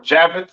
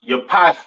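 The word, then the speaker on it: Japheth: East Indians all right next we have jaffet all right or javet some people like to call it right um pronounce Yap in Hebrew these are your so-called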